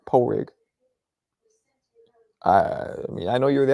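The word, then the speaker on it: Pádraig: it dahi David has pronounced dahi Patrick is pronounced poig I I know you're the Irish one but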